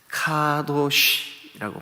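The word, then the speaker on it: קדוש: 성도 가도시 가도시 가도시 히브리 말로 카도시라고 발음을 해요 카도시 근데 그냥 말 그대로예요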